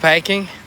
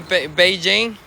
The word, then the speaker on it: Beijing: No, the name has always been Beijing. You mean Beijing? It's just like right now they try to go with the English pronunciation. No, it's has always been Beijing. It's called we call Beijing. Okay. Uh or B or back then it's called baiting. Okay. Bing. But it's still baiting. It's not packing.